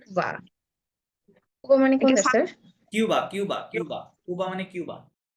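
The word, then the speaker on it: Cuba: কুবা। হ্যাঁ, কুবা। কুবা, কুবা মানে কোনটা স্যার? কিউবা, কিউবা, কিউবা, কুবা মানে কিউবা।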